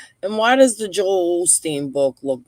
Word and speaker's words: Osteen: Osteen, yeah.